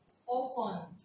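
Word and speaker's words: often: फासन, ओफन, सोफन, मौसन, listen. ओफन को लेके थोड़ा सा मैं एक्सप्लेन करना चाहूंगी कि बिफोर 14th सेंचुरी इसको ऑफ्टन पढ़ा जाता था, ठीक है।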